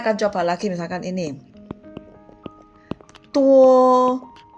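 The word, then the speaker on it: 多: Tuo. Nah, ini ucapannya diucapkan itu seperti tuo tanpa hembusan nafas. Tuo seperti huruf T.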